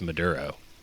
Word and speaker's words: maduro: It's like you spell it Madoro. Maduro. Yeah. I mean, there's a good chance that would be how I would end up spelling it. So no, you're saying it wrong for sure, but it's just Maduro.